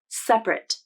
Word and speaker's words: separate: it as two syllables separate and i would say this one is a requirement you should pronounce the adjective form of separate as two syllables and the verb form